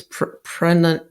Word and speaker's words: pranayama: Yeah, if I can remember it rightly, it's pranayama. Yeah, that's right. I'm trying to say all the syllables.